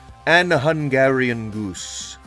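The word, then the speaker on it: AnHungarianGoose: It is an Hungarian goose. A N Hu N G A R I A N. G O O S E. And the G is pronounced like a normal G.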